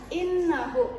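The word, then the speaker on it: إِنَّهُ: Innahu nanya ini adalah guna karena nunnya ini bertasjid. Jadi dibacanya harus ditahan innahu gitu.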